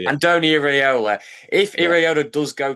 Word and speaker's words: Iraola: But I'm interested to see if Ando, I can't pronounce his name, Areola, yeah. Andoni Iraola.